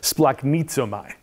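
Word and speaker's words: σπλαγχνίζομαι: that is most often translated as compassion is pronounced splaknitso mai now i spent this past spring taking greek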